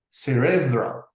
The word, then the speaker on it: cerebral: The adjective of this word is usually pronounced with the accent on the second syllable, cerebral.